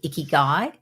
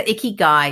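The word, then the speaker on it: ikigai: the um concept of iy guy no okay so I love so iy guy is a Japanese phrase and the way I remember it is it rhymes with sticky eye so can't quite remember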